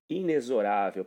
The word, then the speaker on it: inexorável: A pronunciação correta do termo é essa, inexorável.